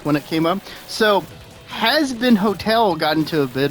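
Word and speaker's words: Hazbin: I've always pronounced it as has been, like a has been. That's because this is how it's supposed to be pronounced.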